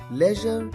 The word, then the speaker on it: leisure: Leisure time यहाँ पर leisure, ज का तीसरी कैटेगरी का ज यहाँ पर आता है leisure.